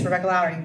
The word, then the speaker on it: Rebecca Lowrey: all right um so full name did I pronounce it correctly yes Rebecca Lowry that's correct wonderful and pronouns she her wonderful